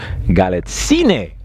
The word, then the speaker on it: Galitzine: And tonight I'm talking to Galitzine.